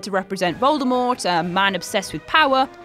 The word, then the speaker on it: Voldemort: included a paragraph that told us all the t in voldemort is silent 2.